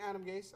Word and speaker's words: Adam Gase: So there's really no H in Adam Gase. I spelled that wrong. It's like any other word that rhymes with ace.